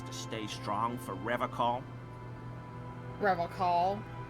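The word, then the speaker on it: Revachol: Revocol. He pronounces Revocol with a hard K, unlike other people. I like to pronounce it the hard way, the old way, the Oh my Vespertine lord.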